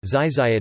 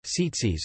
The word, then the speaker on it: Tzitzit: Tzitzit (Hebrew: zizayit, Ashkenazi pronunciation: tzitzis) are special knotted fringes